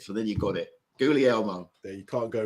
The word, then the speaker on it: Guglielmo: The second G is silent, and it's like Goo, G-O-O-L-L-L, Lee, like in Lee, River Lee, and Elmo, as in the red furry thing from the Muppets.